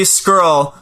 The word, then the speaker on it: Scurll: It's Marty Scurll. Scurll. Ah, that's why you wouldn't spell it.